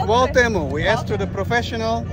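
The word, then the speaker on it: Cuauhtémoc: Quando pronunciamento como é? Kotamo, Kotamo. So it's Kwaltemo. We asked to the professional and now we had it's the Kwamento. The arm Kwamento. Kwaltemo.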